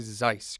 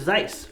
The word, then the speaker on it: Zeiss: company out there is Zeiss did I say it right yeah Zeiss it sounds German or something then I